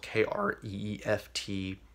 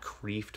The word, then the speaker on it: Kreeft: It's spelled Kreeft, so it looks like Kreeft, but I think it's pronounced Kreeft.